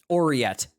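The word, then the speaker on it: aureate: But Ariet... You're really gonna make this. You're really gonna make me look up how to say this fucking word, aren't you? Oriet.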